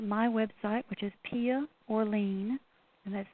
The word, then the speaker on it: Orleane: You can find it on Inner Traditions' website, or you can look at my website, which is Pia Orlean, and that's spelled Orleane.